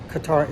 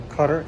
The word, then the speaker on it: Qatar: to Singapore everything from Qatar Airways which I believe is pronounced cutter Airways all the way down